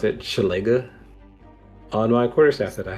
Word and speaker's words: Shillelagh: That's how I pronounce it. Shillelagh.